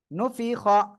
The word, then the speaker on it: نفخ: নুন পেশ নু ফাজের ফি, নুফি খ, নুফি খ জবর খ, তাহলে কি হয় একসাথে?